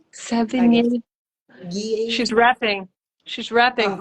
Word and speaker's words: Sevigny: Sevigny, Sevigny.